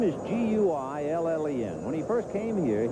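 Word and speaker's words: Guillén: Guillen is trying to bird dog Baylor a little bit and cut down his lead.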